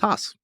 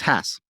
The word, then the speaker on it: Hass: Number one, it's not pronounced Hass. It's Hass. So we're all saying it wrong.